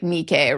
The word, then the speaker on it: Nike: In Latin, it would really be like Nikay, right?